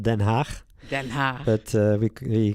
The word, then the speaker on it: Den Haag: How do you pronounce it, The Hague? The Hague. It's called in the Netherlands. It's called Den Haag.